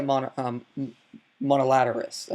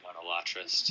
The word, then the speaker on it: monolatrist: that to be a monolaterist. I'm sorry, I'm pronouncing that wrong. I pronounce words wrong all the time, but I say monolatrist.